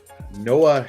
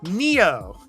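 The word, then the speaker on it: Nioh: So our PS4/PS5 game is Noah 2. Noah? Remastered. Noah? I don't know how you pronounce Neo. Burley. Neo. Yes, Neo. Neo. Neo 2. Yeah, Neo. It's kind of a Japanese name.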